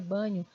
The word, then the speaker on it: Bagno: o Marcos banho né pesquisa Marcos bagno que a pronúncia é banho e leia o livro